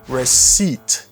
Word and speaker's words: receipt: Et pour bali, receipt. Receipt. Receipt. Regardez, ça paye à pas prononcer dans le mot ça, on dit receipt.